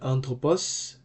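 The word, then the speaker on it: ἄνθρωπος: marks in the word anthropus the smooth brething Mark functions like a mute H so it's going to be anthropus it doesn't affect the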